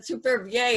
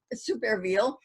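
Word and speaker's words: Supervielle: uh jules superville uh it uh many people pronounce that supervie and that's how it looks in french but in fact he pronounced it super reveal in the peruvian french poet um that is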